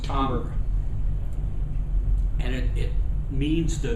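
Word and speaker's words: timbre: spelled t i m b r e it's pronounced tber and it it means the very nature and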